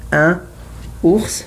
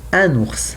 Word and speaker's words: un ours: So here is also I have un ours, no, un ours, un ours.